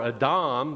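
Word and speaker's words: אָדָם: to interpret these stories the word atom or a Dom the way it would be pronounced in the Hebrew is the word for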